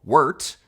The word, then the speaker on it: wort: After that sweet barley tea, what brewers call wort, spelled like wart, but pronounced like yurt, because as the professor dedicated his life to proving, the English language hates us.